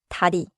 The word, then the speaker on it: 다리: Now, dari, it means leg or bridge. Listen for the quick riel in the middle. Dari.